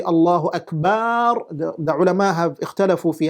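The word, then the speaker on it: الله أكبر: case, what they do is they try to pronounce the takbirah as Allahu Akbar according to how it is. You do not change. If you say Allahu Akbar, that becomes a problem. If you say Wallahu Akbar, that becomes a problem.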